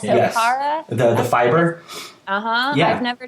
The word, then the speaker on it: Okara: I think it's pronounced like Akara? Yes, Okara.